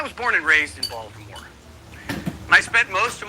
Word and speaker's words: Baltimore: funny Baltimore thing balarie the thing is in Baltimore e you just drop a syllable in a word so Baltimore becomes Balmer come visit us in